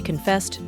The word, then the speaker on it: confess: secrets to their co-workers remember to stress the second syllable confess she confessed it